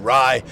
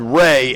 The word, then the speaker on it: Rye: When I first saw it, I said Ray, and then I went to the pronunciation that's what guy. it was. It was, it's just rye, like the bread.